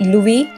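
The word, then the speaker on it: Louis: और जो furniture maker हैं वो हैं लुई मोज़रेला नहीं, और इसमें जो है लुई में एस साइलेंट है।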